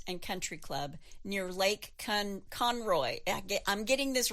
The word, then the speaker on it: Conroe: Country Club near Lake Conroe. I'm getting this wrong. It's not Conroe. It's Conroe. Conroe. All right. The emphasis on the con, okay?